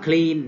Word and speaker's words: clean: พ ท์ ที่ 2 ค ำ ว่ า clean เ น า ะ cl เ น า